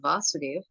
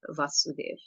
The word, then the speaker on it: Vasudeva: the names here when when the short form of a is used in the name vasoder v a short a vasudev the energy refers to krishna's father vasudeva but when that same name is written with a long a the first a is a long a vasudev when it becomes Krishna so we understand the